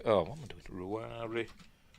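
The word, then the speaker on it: Ruairi: The Irish pronunciation right. of this name is Rory. Right. So it's Rory.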